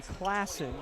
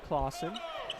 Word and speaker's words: Classen: help right behind him Brody Classen not clawen as checking in for